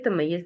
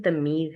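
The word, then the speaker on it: تمييز: ठीक है, तमय्यज क्या करते हैं, फेल से इबहाम, तमीज, सॉरी, इसकी सही प्रोनाउंसिएशन तमीज है।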